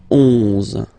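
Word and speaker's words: onze: 11, okay, so O plus N give you the sound on, 11, 11, okay, final E doesn't exist phonetically, 11, okay, 12, 12,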